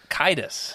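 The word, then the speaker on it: Caedus: Kitus.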